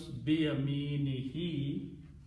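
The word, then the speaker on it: بيمينه: And for easy pronunciation, we also pronounce this as a kasra. Last letter. So it becomes biyaminihi, in his right hand. So utiya kitabahu, he is given his book, biyaminihi, in his right hand.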